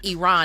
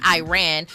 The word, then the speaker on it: Iran: he said number one you are uh pronouncing our country wrong it's Iran and it's not Iran uh let's get that